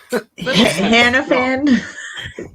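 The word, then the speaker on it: Hannifan: let me read my notes here it's tom hanafan did i pronounce hiddleston no hannah fan that's what i was saying hannah fan hannah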